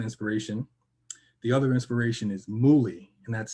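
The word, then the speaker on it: Mully: The other inspiration is Muli, and that's spelled M-U-L-L-Y. And Muli is actually a Nigerian entrepreneur who was a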